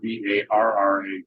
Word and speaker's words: Barra: respected Gracie Barra schools, which are spelled Barra. So it sounds like Barra, but that's pronounced silently, or H in Portuguese.